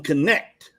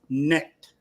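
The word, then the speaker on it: Knecht: Picking up, they pronounced them connect last night. I swear it's pronounced necked.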